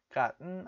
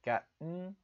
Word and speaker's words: gotten: Gotten out of hand. Gotten 이렇게 gotten 할 때는 코에서 바람이 나와야 돼요. 할 때는 코에서 발음이 나와야 돼요.